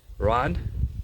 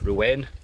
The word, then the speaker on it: Rouen: Now we're off to what we've been referring to as Rouen, but as we know, our pronunciation of European cities is awful, so it's Rouen. Not Rouen, Rouen, but we'll call it Rouen for the sake of a cheap pun.